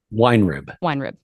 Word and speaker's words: Weinrib: Weinrib.